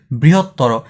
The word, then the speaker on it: বৃহত্তর: উদ্বেলিত, শব্দের শেষে অ উচ্চারণ লোপ পায় না, মানে শব্দের শেষে অ এর উচ্চারণটা আছে কোনটাতে? এটা হচ্ছে একমাত্র এইটাতে, বৃহত্তর।